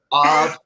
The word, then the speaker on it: of: Phonetically, the way it sounds, of is a V, not an F.